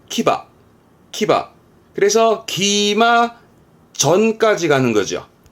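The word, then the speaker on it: 騎馬: 그게 이 한자입니다. 발음은 키바.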